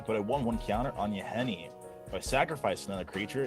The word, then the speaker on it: Yahenni: I cannot pronounce it that very well. Trigger Edgar. That's Another vampire. Yawgmoth, right? Not Yawgmoth, Yahenni.